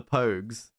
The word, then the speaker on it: Pogues: fairy tale New York writers yeah by the Pogues yeah yeah yeah how do you how do you pronounce my name I'd say yeah bro